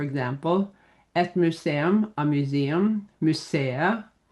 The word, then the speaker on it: museet: So, for example, et museum, a museum, museet, don't say the t there.